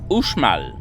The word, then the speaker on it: Uxmal: Son nom s'écrit Uxmal, mais on doit prononcer Uxmal, ce qui signifie en langage maya « construit 3 fois ».